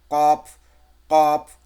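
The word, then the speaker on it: ق: তাছাড়া এমনি উচ্চারণ যদি করি আমরা, যে জিহ্বার গোড়া তার বরাবর ওপরে তালের সামনে লাগিয়ে দেবেন, কফ, কফ।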